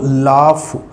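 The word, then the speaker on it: laugh: इसका फोनेटिक देखिए friends, L ए यू जी एच। जब हम इसको प्रोनाउंस करते हैं तो हम इसको पढ़ते हैं लाफ।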